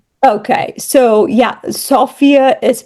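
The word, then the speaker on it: Sofia: Sophia is pronounced Sophia, not Sophia. Sophia. And a lot of people call it S Sophia. Um, it's pronounced Sophia.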